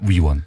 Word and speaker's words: 위원: 의원이 아니고요. 위원입니다. 위원.